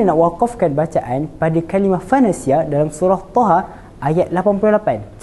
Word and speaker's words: فَنَسِيَ: Faqalu hadza ilahukum wailah Musa fanasiya. Wailahu Musa fanasi. Dua cara bacaan tadi kurang tepat. Jadi cara wakaf yang betul pada kalimah fanasiah yang pertama kita sukunkan huruf ya di akhir kalimah. Fanasi. Fanasi.